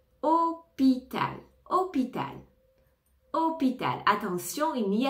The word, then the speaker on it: hôpital: la fin fruit fruit hôpital ne prononce pas le h au départ hôpital hôpital hôpital attention il